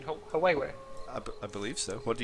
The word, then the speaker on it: Huawei: I mean, isn't that by Huawei, who also make the Nexus for the Google?